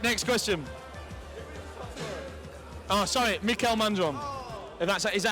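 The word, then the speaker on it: Mikael Mandron: Oh, sorry, Mikel Mandron. If that's, is that how you pronounce it correctly?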